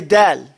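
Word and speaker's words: دال: But here, from the sifat of dal, is that you say dal. Dal. Here, when you do dal, your tongue has to be flat in your mouth before you even start.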